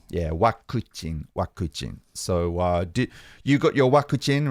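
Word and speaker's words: ワクチン: It's vaccine, but you mangle it with accent. Yeah, you katakana-rize it. Can you remember? We talked about it ages ago. Wakuchin. Yeah, wakuchin.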